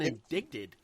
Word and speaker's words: indicted: Town Georgia has been indicted indicted indicted indicted no it there's a c in there why is there it's indicted indicted it's indicted the ca is silent it I have never